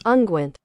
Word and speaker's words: unguent: So American pronunciation is unguent.